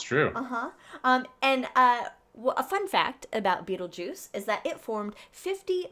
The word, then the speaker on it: Betelgeuse: I say Beetlejuice. Oh, you say Beetlejuice? Okay. I do like the movie. So, Beetlejuice? Yeah. I was go Betelgeuse. But I think either way is actually correct now.